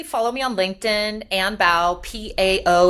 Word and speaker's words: Pao: Follow me on LinkedIn, Ann Bao, P-A-O. It's pronounced like a B.